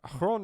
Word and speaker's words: Chron: Chron is how you say it, okay? You noticed that I pronounced it the way he did in his intro. Ah! There we go. Success. No, it's actually not Zron.